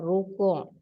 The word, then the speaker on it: rukuk: Telah rukuk. Ni rukuk tu kena taruh ain, jangan rukuk taruh k.